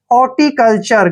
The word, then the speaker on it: हॉर्टिकल्चर: ल पढ़ते हैं और टी यू आर ई जब भी इकट्ठे आते हैं तो इसको हम पढ़ते हैं चर यानी कि हॉर्टिकल्चर क्या पढ़ेंगे इसको हॉर्टिकल्चर